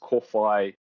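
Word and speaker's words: kōwhai: So my company name is pronounced Köwhai Tree Care.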